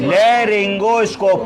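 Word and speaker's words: laryngoscope: पढ़िए। लेगोस्कोप। लेरिंगोस्कोप। क्या स्पेलिंग है? एल ए आर वाई एन जी ओ एस।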